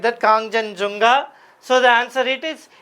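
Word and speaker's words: Kangchenjunga: We have to pronounce like that Kongjan Junga.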